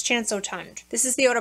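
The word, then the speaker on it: Chance Eau Tendre: chance oh tond and some people were saying chance of tundra and i was like oh my gosh how do you say that so i looked it up according to google translate it's chanso tunde this is the eau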